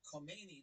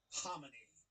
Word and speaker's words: Khamenei: because, by the way, I was always saying Ayatollah Khomeini, but it's Khamenei or something. I just realized that. But oh boy, here we go. Mujtaba Khamenei.